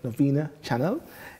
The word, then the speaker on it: Novena-Chanel: private sectors, and Novena-Chanel, and make sure you pronounce her name, Novena-Chanel, is a London-based entrepreneur, radio host, and presenter